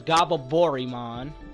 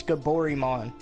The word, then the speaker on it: Gaborimon: Goblimon's name in the game was Gababorimon. Who the fuck can even pronounce that shit? No, it's Gaborimon.